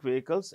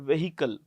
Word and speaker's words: vehicle: dreams this Chinese company is selling Vehicles electric vehicles at a very low price now by the way when they pronounce the word vehicle The Edge is silent so we say vehicle